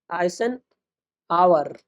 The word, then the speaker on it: Eisenhower: हैं आइसन हावर मैट्रिक्स आइसन आवर आइसन आवर मैट्रिक्स आज हम लोग पढ़ने वाले हैं। इसका उच्चारण थोड़ा अजीब है। आइसन आवर ही पढ़ा जाता है क्योंकि इट साइलेंट होता है।